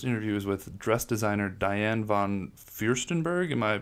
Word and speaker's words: Diane von Furstenberg: The first interview is with dress designer Diane von Furstenberg. Am I pronouncing that correct?